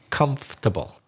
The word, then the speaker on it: comfortable: Okay, maybe it wasn't so bad, but imagine like the O and R in the middle aren't there. So comfortable.